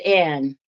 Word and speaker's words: Annie: I pronounce it Anne. But it's spelled Annie.